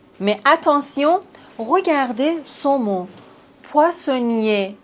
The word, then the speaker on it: poissonnier: Poissonnier. Ici, on ne prononce pas le R, poissonnier.